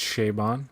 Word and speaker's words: Chabon: liked a lot actually of pronounced Shaban, but whatever. Go ahead. Chabon. I always say it like Chabon.